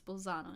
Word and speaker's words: Bolzano: hot in Suitor ah bosano in Italian it's Bolzano in Italian either way it's too